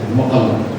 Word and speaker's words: Mukalla: The site itself is located on Jabal al-Mukalla, and they pronounce it Muqalla, along part of the valley called Wadi Rajl.